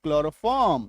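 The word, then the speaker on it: chloroform: सी एच एल ओ आर ओ एफ एम क्लोरोफॉर्म सी एच L chloroplast C एच L chlorophyll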